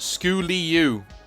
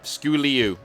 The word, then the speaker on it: Sculleo: who says first off my name is pronounced school eu okay school eu okay got it the sku like skull okay yep got you